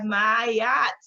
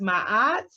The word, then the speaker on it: Maat: So next up on our journey we have Mayat sometimes pronounced Mahat Maat who is an Egyptian goddess of balance.